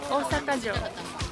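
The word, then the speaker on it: 大阪城: Osaka-jo.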